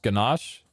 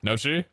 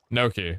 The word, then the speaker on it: gnocchi: Gnocchi? Just gnocchi? Nochi? Gnocchi? Gnocchi. Okay. So the G is silent.